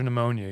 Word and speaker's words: pneumonia: And if you answer pneumonia, you have to spell it correctly also. Yeah. Isn't that like a P in pneumonia or something? Yeah. Right. Yeah. Silent. Yes.